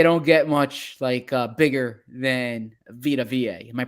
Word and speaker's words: Vita Vea: Yes, and they don't get much bigger than Vita Vea. Am I pronouncing it correctly? Vita Vea. Vita Vea.